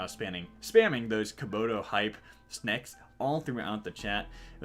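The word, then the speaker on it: Snake: Yes, I say Snek. Don't argue with me. That's how you say it.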